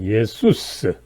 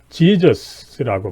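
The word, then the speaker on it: Ἰησοῦς: 그래서 원 발음은 사실은 이 그리스 헬라어로서 예수스, 그죠? 이 원래 발음입니다, 그죠? 그래서 독일어나 우리말에서는 예수, 과거에는 뭐 예수스까지 했습니다만 좀 라틴어식으로 좀 줄여서 예수, 그죠? 그런데 이 영어에서는 어쨌든 이것을 지저스라고 발음하는데, 이거는 사실은 조금 올바른 발음법은 아니다라고 하는 것을 먼저 염두에 두고요.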